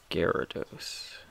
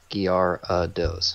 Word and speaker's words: Gyarados: Gyarados.